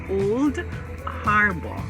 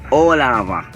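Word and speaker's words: Old Harbour: Catherine, there's this town, and it's pronounced as Old Harbor. No, you have to give the wrong name first. All right. And Olava. No, but my friends say Olaba.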